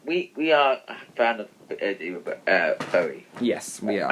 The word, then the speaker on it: Bowie: Tom, we are a fan of Bowie. Yes, we are. Am I saying it right? Yeah, it's Bowie. Messed up his name. It's Bowie. Is it Bowie? A lot of people say Bowie, but it's Bowie.